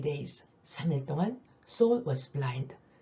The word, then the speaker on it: Saul: 사울의 영어 발음 Saul, 과거 진행이 이 단락 속에 나오네요.